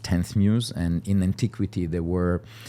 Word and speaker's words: Ex Muse: So it's written ex Muse, but it's pronounced 10th Muse.